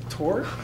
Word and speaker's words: torque: Anyone thinking torque? Never mind. See, because the guy sitting next to you, please, Sahara, would you like to explain it to everyone? Torque rhymes with door.